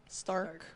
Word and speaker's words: Starck: How do you say her last name? Starck. Okay. The C threw me off.